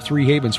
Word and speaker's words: HAV3NS: Havens, which, like Genesis, is spelled with the numeral 3 in there, where an E should be, HAV3NS, pronounced Three Havens.